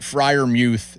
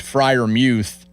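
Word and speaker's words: Freiermuth: I mean, I had I have video evidence that Pat Frier Muth is pronounced Frier Muth and everybody still says Frier Muth.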